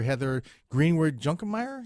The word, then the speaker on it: Heather Greenwood-Junkermeier: So today we have the director, Heather Greenwood-Junkermeier. Is that how you pronounce it, Heather?